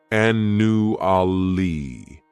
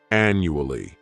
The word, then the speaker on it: annually: This word has 4 syllables, and the stress is on that first syllable. The second syllable, it's like you're just saying that letter U, and the third syllable has that schwa, annually, annually.